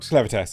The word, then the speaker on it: Clevatess: Clevatess, it is Clevatess, yeah.